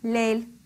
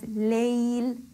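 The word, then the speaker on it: ليل: Sometimes, often I've heard pronunciation of this word as Layl. Again, here we're ignoring the quality of lean for the ya. In fact, we're almost ignoring the ya completely. So we have to make sure that we pronounce this word as Layl, giving the quality of lean to the ya, giving the ya its correct due.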